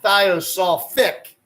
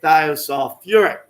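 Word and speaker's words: thiosulfuric acid: They add a syllable into the word to make it a little easier to say. So they would not call the acid thiosulfic. They call it what? Thiosulfuric.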